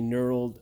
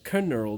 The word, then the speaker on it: knurled: with a knurled surface for all my friends who don't understand silent letters that is a knurled Surface otherwise known as a canurdle because there's a freaking K there for no reason anyhow move the wiring